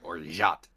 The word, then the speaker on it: orgeat: Apparently it's pronounced orgeat. Or Or not. rot. With like a Z. They said orgeat.